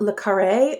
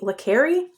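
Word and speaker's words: le Carré: I always pronounced it Lare, but I think it might be Leri.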